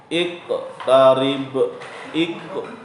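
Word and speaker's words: اقترب: Cara membacanya yaitu dipantulkan dengan pantulan yang kecil. Jadi nggak boleh besar-besar pantulannya ya. Contoh gini. Iqtarib.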